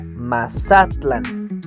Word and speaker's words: Mazatlán: Mazatlán, en náhuatl se pronunciaría Mazatlán, en la penúltima sílaba.